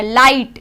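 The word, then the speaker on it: light: लाइट, लाइट में भी GH है वो साइलेंट हो गया।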